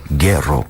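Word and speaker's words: Güero: I think the correct pronunciation is Guero. Yeah.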